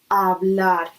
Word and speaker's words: hablar: And then we could also say, puedes hablar. Again, we don't pronounce H.